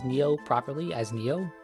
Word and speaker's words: Nioh: I know plenty of people, most everyone I have seen pronounces Neo properly as Neo, right? But when it was first announced and it didn't have pronunciation, some people were calling it Nio, right?